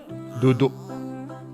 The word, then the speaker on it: duduk: Duduk. That K is not pronounced K. It's E. Duduk. Something like this.